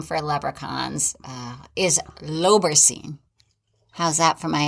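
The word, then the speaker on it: lobaircin: print it's spelled l-o-b-a-i-r-c-i-n google told me it was pronounced low beer sin like lobe bear sin low bearson then why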